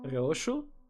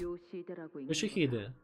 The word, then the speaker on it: Yoshihide: Roshu? No, that's not how you read those letters. Yoshihide. That's how you say it.